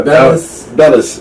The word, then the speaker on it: Bellis: Bellis, not Bells.